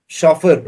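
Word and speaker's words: chauffeur: शफर। इसको शफर पढ़ते हैं। शफर। ओके?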